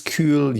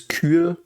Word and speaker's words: kühl: We have perhaps some pronunciation stuff, so it's Kühl. The Ü is this U with the double shits, fly shits on top of it. And the H is silent and makes the Ü longer.